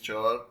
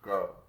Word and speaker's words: CHAR: Its correct pronunciation is CHAR, not CHAR.